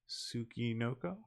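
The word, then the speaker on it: Tsuchinoko: like this chunky smallish snake how do you spell that um it is TSU c-h-i-n-o-k-o tsuki noko yeah there's a fat snake meaning dirt child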